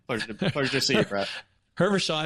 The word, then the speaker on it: Hervochon: with me, and is going to pronounce his last name because I've already lost it. what's your last name? Hervochon. Pleasure to see you, Brett. Hervochon.